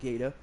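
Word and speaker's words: Gaede: My other ships I've got, I have a Tier 5 Gaeta, which that's how it's pronounced. G-A-E-D-E is pronounced Gaeta.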